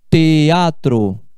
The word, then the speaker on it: teatro: Ou teatro, teatro, teatro. Me vou ao teatro, esse EA você fala em sílabas diferentes.